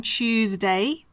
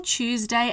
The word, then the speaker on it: Tuesday: so on Monday on Tuesday we spell Tuesday as t s d a y but the pronunciation is Chip Tuesday Wednesday we spell it